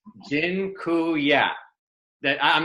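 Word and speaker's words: dziękuję: taught you all the a Polish word for thank you it's Jin ku yeah that I'm not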